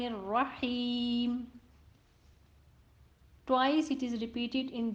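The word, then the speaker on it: الرحيم: Ha of the word Ar-Rahim has kasra under it, so it would be read Ar-Rahim.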